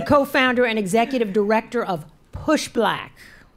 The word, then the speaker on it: Push Black: and executive director of push black rhymes with pushback just in case you